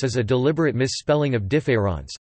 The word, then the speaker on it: différance: notably in his essay difference and in various interviews collected in positions the of difference as a deliberate misspelling of difference though the two are pronounced identically IPA DFAS difference plays